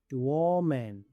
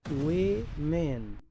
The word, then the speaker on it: woman: Muchos pronuncian esta palabra woman, pero aquí la o se pronuncia e. La e también se pronuncia e w men.